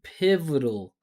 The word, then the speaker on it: pivotal: Listen to me, pivotal. several years, playing key pivotal role in drug Pivotal. I'm saying pivotal. You gotta just smash those unstressed syllables together. Lots of attention on the stress.